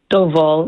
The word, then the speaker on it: Doval: But first of all, it's pronounced Doval, not Duval.